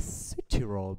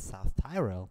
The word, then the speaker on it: Südtirol: It's nice that you pronounce it like Südtirol, because many English-speaking people pronounce it South Tyrol.